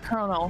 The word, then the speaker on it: colonel: o l o n e l and it's pronounced Colonel notl you just spell the name for me